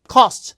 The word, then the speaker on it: cost: 베뉴 해보세요 뉴 그다음에 cost the cost 이걸 스라고 하면 몰라요 코스트가 아니라 발음이예요 코가 아니라 커요 코스트는 못 알아들어요 the cost the cost